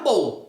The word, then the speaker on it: bowl: O segundo, como tem o L, você pronuncia como se você fosse pronunciar bolo. Com um O mais longo, né?